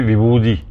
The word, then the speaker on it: vibhuti: Donc, je prends par exemple le terme vibhuti, en sanskrit, qui est devenu vibhudi. Donc, le T devient D par rapport à la prononciation tamoul.